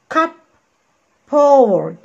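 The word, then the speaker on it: cupboard: هنبص كده cup poured cup ها cup cup p o r d cup poured cup poured وننطقها كلها ايه بسرعة كده بنخطف الكلمة تبقى ايه cup poured cup poured عشان هنا في بي مع بي هنطقهم كأنهم بي واحدة تبقى ايه cup poured cup poured again cup poured كابر وطبعا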